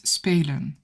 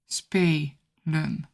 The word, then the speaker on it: spelen: The verb is spelen, spelen. The first syllable is an open syllable with a long vowel sound, spe.